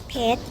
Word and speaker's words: เพชร: ว่า เพชร เรา อ่าน ว่า พอ เอก ช่อ เพชร แต่ รอ เรือ ให้ นะ ครับ เรา เนื้อ